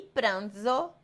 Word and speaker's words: pranzo: E pranzo e zo.